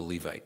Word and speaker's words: Levite: Levite? A Levite.